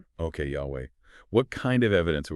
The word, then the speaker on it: Yahweh: The original pronunciation of those four Hebrew consonants, what we call the tetrogrammaton, is widely concluded to be Yahweh.